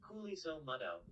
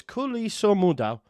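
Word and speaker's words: Khuliso Mudau: How to pronounce? Let's have a listen and see what it says. Kuliso Mudau. Oh wow! Listen. Kuliso Mudau. There you go. Wayman was on the nose. Kuliso Mudau.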